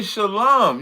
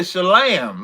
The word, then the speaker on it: shalom: so just say shalom. You said shalam, like we on a lamb somewhere.